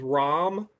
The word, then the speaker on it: Ram: the guy's name is rom it's it's like like a dodge ram pickup but it's spelled